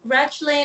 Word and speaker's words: Rachlin: Yeah, Rachlin. In Hebrew, it's Rachlin, but it's hard to pronounce in English.